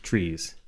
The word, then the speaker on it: trie: 1960 by Edward Fredkin, who coined the term tree, pronouncing it tree after the middle syllable of retrieval. However, other authors pronounce it as try in an attempt to distinguish it verbally from tree.